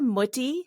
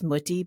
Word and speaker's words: Mutti: And I'm sure we're mispronouncing it. Anybody who speaks German would probably be like, that's not how you say it. But that's how we said it in our house. We said Mutti.